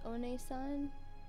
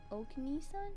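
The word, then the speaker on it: Onee-san: Wait, pronunciation, it's Onesan, not Okni-san?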